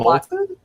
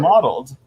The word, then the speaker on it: mottled: How do you say that word? Modeled. Oh, that's how you say that word? Is that why you never liked that word? Yeah, because I'm saying it wrong. Yeah. Modeled. Oh yeah, I always thought it was molted or something.